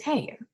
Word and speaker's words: Haigha: that when he's happy his name is haigha he pronounced it like hair so his name is hey the other messenger is